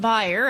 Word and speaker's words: Bayer: you well healthcare giant buyer as it's pronounced in germany and also known as bear here in the us has opened a research